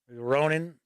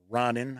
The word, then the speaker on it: ronin: guess incognitos are rogues ronin ronnin however you want to pronounce it i always say ronin a questing knights so